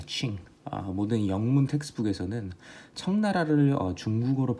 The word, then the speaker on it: Qing: 발음할 때 QING라고 하는데 칭입니다. 칭.